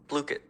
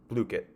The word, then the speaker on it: Blooket: All right, this is Blooket's homepage, and they do have a pronunciation right here. Blooket. Blooket. So Blooket. All right, so no one can tell me I'm saying it wrong because I just had the website tell me.